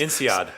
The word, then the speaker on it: INSEAD: with his MIT and, how do you pronounce it, NSAID? No, NSAID, that's... INSEAD.